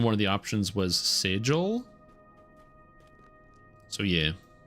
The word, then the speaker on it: sigil: of the options was sigil. So yeah Eat lightning damage. Sigil rhymes with wiggle.